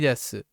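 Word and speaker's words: です: So sushi desu. But the thing about su is it's shortened. Oftentimes it can be shortened in places.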